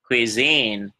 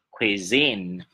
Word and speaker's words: cuisine: Cuisine, khuy. Có nghĩa là miệng của chị cách phát âm luôn nè. Miệng của em có quờ, được chưa? Nhưng mà trước quờ nó có khờ, do đó em phải khạc ra khuy, khuy, khuy. Nếu em không khạc ra nó là quy, nó là quờ không à. Bây giờ khuy, đúng không? Khuy, zin, cuisine, cuisine.